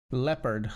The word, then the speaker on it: leopard: Is there any other English word where the EO is pronounced the way it is in Leonard? Leopard, Leonard.